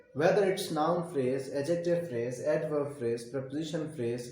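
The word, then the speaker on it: adjective: Noun phrase है, preposition phrase है, एडजेक्टिव phrase है, इसमें डी साइलेंट होता है, एडजेक्टिव नहीं होता, एडजेक्टिव फ्रेज है, एडवर्ब फ्रेज है, वर्ब फ्रेज है।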